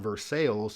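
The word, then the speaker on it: Versailles: state is poor and the town I'm going with here is pronounced versales it's just west of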